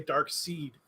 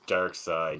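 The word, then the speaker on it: Darkseid: I know people who still say dark seed instead of Oh, dark really? side. Yeah. So do Wow, I. that's And I even argue that with them, and I don't even know anything about DC. I'm like, I'm pretty sure it's Dark Side because that doesn't sound as lame as Dark Seed.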